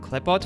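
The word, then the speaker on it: Qliphoth: I'm going to call it Clippot from now on. It's another pronunciation of the same word, but it's just much easier for me to say. So the clipaw I mean the clipaw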